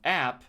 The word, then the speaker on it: app: Think of the a sound like in cat or apple.